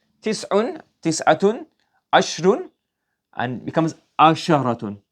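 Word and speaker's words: عشرة: Ashrun, and becomes asharatun. Not ashratun, you have to put here asharatun.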